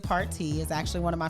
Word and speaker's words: Partey: Val Partey, which he pronounces it Party, is actually one of my family members that, honestly, I just now met.